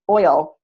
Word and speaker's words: oil: How many syllables does the word oil in column 2, oil, how many syllables does that have? And the answer is 2 syllables.